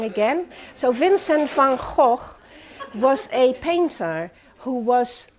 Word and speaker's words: van Gogh: the wonderful artist Vincent Fajo and that's how you say his name properly in Dutch Vincent from oh okay you'll never get this wrong again so Vincent van Gogh was a painter who